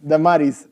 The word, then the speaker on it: Damaris: Damaris, it's spelled correctly, am I saying correctly? Damaris Zampini, yes, is a visionary global growth executive,